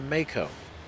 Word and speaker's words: Mako: And now I officially know it's called the Mako. This has been pronounced like that in game.